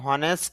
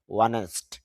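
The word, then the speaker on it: honest: সে হবে অনেস্ট অনেকে হনেস্ট বলে হনেস্ট না এখানে এইস এর উচ্চারণ হবে না তাহলে উচ্চারণ হবে অনেস্ট আর অনেস্ট থেকে আরো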